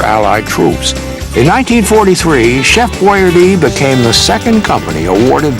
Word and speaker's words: Boiardi: So when he, on the can, he put it BOY-AR-DEE.